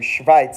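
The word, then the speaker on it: Schweiz: Switzerland where are you schit is how you say Switzerland in German say it with me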